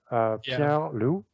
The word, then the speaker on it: Pierre-Loup: Because, Perry, how do you say that, Frenchie? Perry? Pierre-Loup.